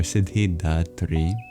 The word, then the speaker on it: Siddhidhātri: And then the H after the D is no silent letter, as Sanskrit differentiates between aspirated and unaspirated plosives.